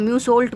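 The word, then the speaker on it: Meursault: इसको हम म्यू सोल्ट बोलेंगे, हालांकि इसमें आ रहा है लेकिन इसको वो साइलेंट होगी, म्यू सोल्ट कहलाया जाएगा।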